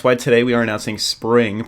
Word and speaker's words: Xpring: today we are announcing spring pronounced SPR ing spring spring is a new